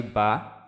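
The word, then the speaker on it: ب: তারপর আসি বা। দুই ঠোঁটের যে ভিজা অংশ, সেই ভিজা অংশ থেকে উচ্চারিত হবে বা, বা।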